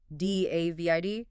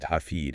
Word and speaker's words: David: D A V I D. Well, in English it's David, but in German the A is a V is F. The I is E. Ded. Dafed. Exactly.